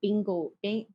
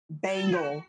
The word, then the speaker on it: Bengal: I would want a bingo cat. Is that how you say it? Bangle. Bengal cat.